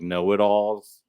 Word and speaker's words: Nola Dolls: The Nola Dolls, but like kind of like pronounce it more like Know-It-Alls.